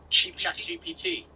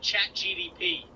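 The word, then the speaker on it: ChatGPT: How do you say it? Chat GPT. Yeah. Why? My dad calls it chat GDP.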